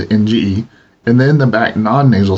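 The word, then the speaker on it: が: There are a few exceptions to this rule, particularly the particle ga is always pronounced with the ng sound, and the element go,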